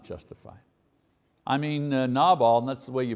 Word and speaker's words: Nabal: I mean, Nabal, and that's the way you pronounce his name, you know, Nabal.